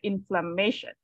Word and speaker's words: inflammation: inflammation by inflammation right the stress is on the uh the ma before this shunt right inflammation inflammation if like if